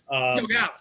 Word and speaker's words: Kilgallen: This lady, Dorothy Kilgallen, I believe that's how you pronounce her name. Yes. Kilgallen.